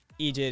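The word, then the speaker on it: eejit: Buck Egypt. Yeah. Egypt is like an Irish phonetic version of idiot.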